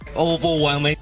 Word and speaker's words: overwhelming: is the word overwhelming the problem with it is that the word over in the front of the word is not stressed and if we pronounce them very prominently overwhelming it would sound a little unnatural especially when he was saying it almost like overwhelming oval overwhelming we'll try to say the word without focusing too much on the